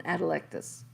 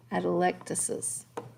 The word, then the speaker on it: atelectasis: actual collapsed lungs is called an adelectus electricity sorry i always want to leave that syllable out right there atelectasis we're going to spend